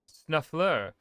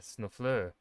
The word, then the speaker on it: snuffleur: Snuffler, he says, like he just caught me naked with his little lady mother. Non, tu dois dire snuffleur. Because snuffler just isn't fancy enough for Orlais.